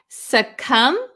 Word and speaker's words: succumb: Remember the silent B. We don't pronounce it. Succumb.